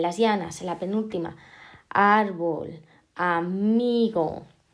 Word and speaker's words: árbol: Vale, ahora tenemos árbol en la penúltima sílaba, entonces es llana.